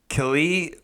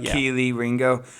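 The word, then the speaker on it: Kelee Ringo: in this draft uh-huh that's that's booking it Kelly is that how you say his name Keeley Ringo Kaylee or Keeley Ringo Keeley Ringo um he's pretty good he's wearing a four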